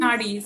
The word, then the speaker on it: nadis: I'm terrible at remembering the pronunciation. Is it Nadis or Nuddies? Nadis.